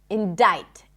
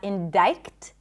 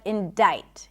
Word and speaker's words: indict: The C is silent in the word indict. Indict, not indict, but indict.